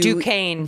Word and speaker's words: Duquesne: How do you after spell that town? D-U-Q-E-U. Duquesne.